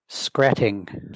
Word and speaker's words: Skretting: How do you pronounce your name? Skretting.